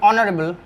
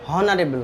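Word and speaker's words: honorable: তো এইচ এর উচ্চারণ কি হচ্ছে, এইচ এর উচ্চারণ যদি করতে যায় তাহলে আমাদের কি হবে হনারেবল হবে। ঠিক, কিন্তু হনারেবল উচ্চারণ কি হয় না, কি হয় অনারেবল হয়।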